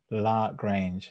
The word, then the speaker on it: LaGrange: Very few say it correctly. LaGrange.